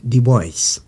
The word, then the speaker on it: Du Bois: diaspora son nom s'écrit du bois ça se prononce du bois il est né vers 1868 c'est-à-dire quelques années